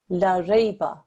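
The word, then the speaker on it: لَا رَيْبَ: But the strokes are different, and this is pronounced as la rayba, la rayba. Notice the difference. Here I've stretched out the la, okay, la rayba, la rayba. Look at the difference, just that 1 second timing makes.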